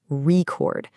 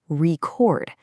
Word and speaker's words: record: If you have a vinyl record, the stress is on the front, record. But if you want to record a message, the stress shifts to the back, record. It goes from a noun to a verb, all decided by that little bit of stress.